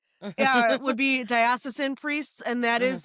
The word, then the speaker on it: diocesan: Diosisen. Yes. Yeah. Would be diosisin priests.